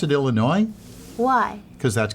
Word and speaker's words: Illinois: some interesting things on the street do you pronounce it Illinois why because that's correct whoa yay for me in Ohio some people say Illinois but that's noisy that's noisy yeah it's slightly